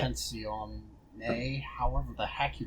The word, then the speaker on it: Competizione: Let me pull it up so I can pronounce it to you as an Italian. What is it called? Assetto Italian what? Americans don't count. Assetto Corsa Competizione.